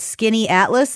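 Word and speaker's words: Skaneateles: Uh I can't believe that this is how you pronounce it, but Skinny Atlas Lake. Correct. Skinny Atlas.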